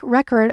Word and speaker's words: record: Like record, record as a noun, record as a verb, or present, present as a noun or adjective, present as a verb.